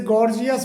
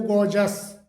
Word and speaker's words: gorgeous: इसे गॉर्जियस बोला जाता है सामान्यतः, गॉर्जियस करके। जबकि इसका सही जो प्रोनाउंसिएशन होता है वो गॉर्जस, गॉर्जस, गॉर्जस करके होता है।